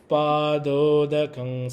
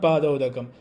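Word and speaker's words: पादोदकं: Gurof padodakam samyak. Gurof padodakam samyak. You are rushing, you're rushing. Don't rush. Not padodakam. Padodakam samyak.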